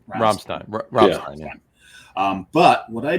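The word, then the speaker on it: Rammstein: band is Ramin R but in German it's Ramstein um and that's the way that Greg's pronounced it R romstein Rin um but what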